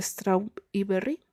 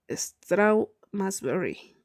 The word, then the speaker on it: Strawberry: ¿Hace mucho que trabajas en Straub y Berry? En realidad, dijo Kip fingiendo ofensa. Se pronuncia Strawberry.